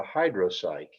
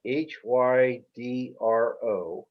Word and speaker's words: hydropsyche: Oh, So the the fly you want to tie for Green Hill Park is a hydropsych. It's a net spinning caddis. It's spelled HYDROPSYCHE, hydropsych.